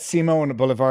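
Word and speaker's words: Simón Bolívar: seiman bouevard quite good you better you better pronounce that Simone boulevar because otherwise the alternate pronouncing pronunciation might sound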